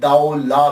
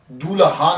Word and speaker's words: Daulah: ये लफ्ज प्रोनाउंसिएशन दाऊ ला है। दूल्हा नहीं है। ये सबसे पहले याद रख लीजिएगा कि ये दाऊ ला है। दाल ज़बर वा साकिन दाऊ और लाम अलिफ ला है।